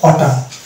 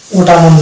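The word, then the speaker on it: autumn: অনুরূপভাবে এটা হচ্ছে হাইম, এটা হচ্ছে কোলাম, এটা কোলামুন না কোলাম, আর এটা হচ্ছে অটাম, ওটামুন না অটাম।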